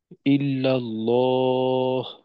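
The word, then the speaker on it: إلا الله: এইখানে ইল্লাল্লাহ, তো ওই শেষের হাটাকে কিন্তু স্পষ্ট করতে হবে। তো ইল্লাল্লাহ বলে শেষ না করে ল, এভাবে করা, ল।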